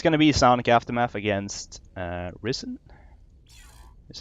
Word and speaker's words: Ris3n: Anyway, it's gonna be Sonic Aftermath against Ris3n. Is how you say that, right? Yeah, Ris3n.